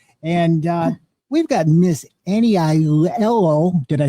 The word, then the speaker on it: Aiello: And we've got Miss Annie Aiello. Did I say it right? Annie Aiello. Yeah. Just say it fast. Aiello.